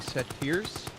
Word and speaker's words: satyrs: Satyrs?